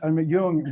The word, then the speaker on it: Jung: It's pronounced Yung.